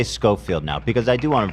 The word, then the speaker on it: Schofield: Why am I Am I saying Showafield? It's Scofield. Why she spelled it like Chafield then?